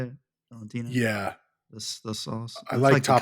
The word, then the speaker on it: Valentina: Valentina.